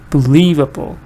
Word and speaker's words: believable: But what the focus is still stress is on believe. Still stress is on enjoy. Believable. Enjoyable. That able doesn't get the stress.